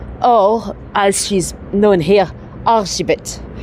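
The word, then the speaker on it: Erzsébet: We're talking about Elizabeth Bathory, or as she's known here, Argibet. Elizabeth, it's spelled, when they say it, it sounds like Argibet. So Argibet Bathory, she, let me show you another statue as we're here.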